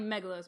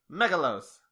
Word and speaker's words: Meglos: Matthew golden dot net it's definitely Meg lows by the way my clothes there's no a mega lows right they say it